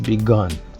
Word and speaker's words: begun: Pour la prononciation de ces deux-là, le passé, c'est dans le nez, began. L'autre, c'est dans la gorge, begun. C'est tout.